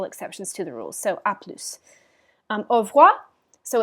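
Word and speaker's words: à plus: told you that um typically s's at the ends of words are not pronounced in this case with the phrase that's an exception to the rule so french is a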